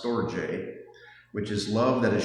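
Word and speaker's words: storge: There is sto, which I had never heard of, s t o r g e, pronounced stoj, which is love that is shared between family members, like that experience between a parent and a child.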